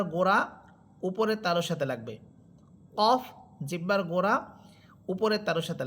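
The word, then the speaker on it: ك: Calf হরফের মাখরাজ হবে জিহ্বার। গোড়া থেকে একটু উপরের দিকে বেড়ে। একটু উপরের দিকে উঠে উপরের তালুর সাথে রাখবে।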